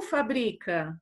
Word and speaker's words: fábrica: por isso que acontece colocar o acento se não é fabrica ou fábrica então o acento ele faz